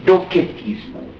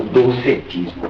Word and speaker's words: docetismo: Essa, em grego, a doutrina da aparência chama-se docetismo, ou docetismo, pronuncia com K ou com C.